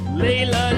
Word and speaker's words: Leila: Leila. Leila. Leila. Leila. Leila. Leila. Leila. L E I L A L E I L A.